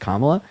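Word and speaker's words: Kamala: don't first of all please pronounce her name right her name her name is pronounced comma that's if you yeah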